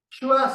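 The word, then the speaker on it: schwa: Shua sound, huh?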